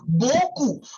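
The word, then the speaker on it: beaucoup: So very much is called as Goku. Okay. So what what here you do is uh you do not pronounce the P alphabet.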